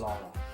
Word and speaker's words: Ogallala: Ogallala. I'm terrible at pronouncing things.